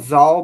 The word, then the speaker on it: Xal: Yeah, It's definitely it's called Zal, but it's spelled differently than the way it's pronounced.